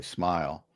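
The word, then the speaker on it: Smael: Um or now you have another guy, Smile Mundon, and that's how it's pronounced, by the way, Smile.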